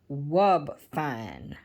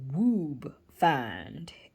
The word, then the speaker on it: Wubefine: think i'm not sure it's pronounced wub fine or woob find if the rule of long vowel followed by a long vowel proceeding in e is correct it would be ub fine i'm not sure but